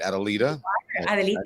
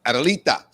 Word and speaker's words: Adelita: Adelita. Yes. And Adelita.